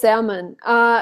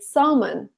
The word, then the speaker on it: salmon: just see it spelled they think that that L needs to be pronounced and I know that